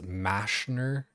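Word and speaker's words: Mazchna: Apparently m- a z c h n a it's like pronounced mashner or something. Mashner. It's like that is peak English UK Mashner. It's It's that I think it's like the intrusive R thing where like because it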